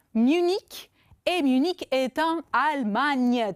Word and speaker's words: Munich: On prononce Munich Et Munich est en Allemagne.